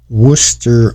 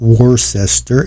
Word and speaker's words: Worcester: Here is Home for Aged Men in Worcester, Massachusetts. I believe that's how it's said, not Worcester, it's Worcester.